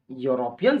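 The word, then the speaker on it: European: इसका पहला लेटर ई है, लेकिन यूरोपियन शब्द का उच्चारण करते हैं तो ई का उच्चारण य के जैसा हो रहा है, जो व्यंजन वर्ण समूह से है, इसलिए यहाँ अ का प्रयोग होगा।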